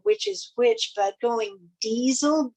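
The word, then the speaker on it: deasil: notes diesel really well she says deosil no diesel according to all the dictionaries i'm looking at oh i see merriam-webster has both pronunciations oh really it looks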